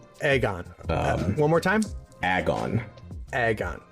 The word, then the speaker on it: AGON: how how do you say it I say agon agon one more time agon agon Aon uh I